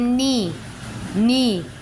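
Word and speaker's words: knee: Then नी, K का pronunciation नहीं हो रहा है, K का प्रोनाउंसिएशन नहीं हो रहा है, ठीक है।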